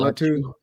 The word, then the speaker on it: Latu: Latua. Cameron Latu.